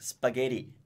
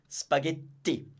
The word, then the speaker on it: spaghetti: of the fact that especially when it's double in North America it tends to sounds like a D like spaghetti it's always in Italians always a very clean to spaghetti at or Trapani okay